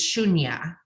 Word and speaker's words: Shunya: she's a master teacher and her name is shunya did I pronounce that correctly beautiful yes so good she